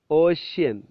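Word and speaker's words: ocean: chef champagne shop push ഓഷ്യൻ ഓഷ്യൻ എന്ന വാക്ക് എഴുതുമ്പോൾ spelling അറിയാലോ ഓ സി ഇ എൻ ഓ സി ആണ് വരുന്നത് പക്ഷേ ഉച്ചാരണം ശ് ആണ് ഓഷ്യൻ ഓഷ്യൻ സോഷ്യൽ സോഷ്യൽ നമ്മൾ സൊസൈറ്റിയുടെ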